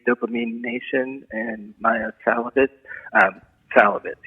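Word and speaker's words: Szalavitz: Salovitz, you don't pronounce the Z. It's an Hungarian name, and SC is one letter.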